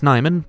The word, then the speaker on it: Nyman: You may refer to me as Nyman, because that is how you pronounce my name.